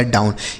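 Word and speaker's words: down: इस ओ और डब्ल्यू का उच्चारण हमने क्या बताया? औ। ओ डब्ल्यू का उच्चारण हो जाएगा औ। तो इसे पढ़ेंगे डाऊ। और यहां एन लिखा है तो एन से न हो गया। लिखा गया डाउन। यह हो गया इसका सही उच्चारण।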